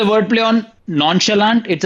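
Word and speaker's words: nonchalant: आउट करूं मैं बताओ दोनों रैपर्स ने जॉनी और पैंथर ने नॉन शालांड गलत प्रोनाउंस किया है। कैसे प्रोनाउंस होता है नॉन शेलांड? जैसे मैंने किया नॉन शलाश हां नॉन शलांट ही होता है ना इसने क्या बोला फिर नॉन चला नॉन चलांत हां उसने भी वही बोला उसने तो नॉन चलांत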